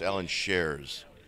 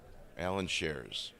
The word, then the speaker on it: Allen Shares: mispronouncing his name so it's Ellen shares so say it just like there's no C Allen shares we're in a gray